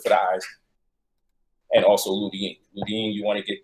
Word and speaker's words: lutein: So that pathogenic acid comes from portobello, but the lutein, okay, you want to get that from, or spell Lutein, but it's pronounced with a D. The lutein, you want to get